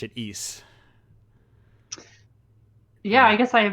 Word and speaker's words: Ys: You learn that you pronounce it Ys. Yeah, I guess I have never heard someone say it out loud. Oh yes, right. There's always the first time. Wise, if you're as I called it for a very long time.